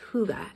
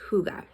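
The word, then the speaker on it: hygge: um practices in the winter um something called Huga and I definitely encourage you to check that out on Pinterest or online like what is Huga it's spelled um Hy g g um but pronounced Huga and it's really a time of reflection us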